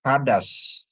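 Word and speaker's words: חָדָשׁ: Di mana het ini dikasih patah, dalet dikasih kamats ya, kamats, dan sin tanpa nikut ya. Jadi bacanya hadas ya, hadas, hadas ya, hadas ya, artinya baru ya, hadas itu artinya baru ya Bapak Ibu ya.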